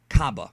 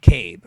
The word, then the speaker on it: Cabba: cab or kab but if you watch the series and listen to the characters the way they pronounce his name it is cabba either way is fine